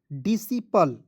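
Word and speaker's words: disciple: बाद सी आया तो सी को साइलेंट कीजिएगा एस आई से लिखेंगे सी तो डी सी पी एल ई पल डीसी पल ठीक है अंतिम में ई आएगा तो पले नहीं पढ़ेगा क्या पढ़ेंगे डिसी पल पढ़ा जाएगा ठीक है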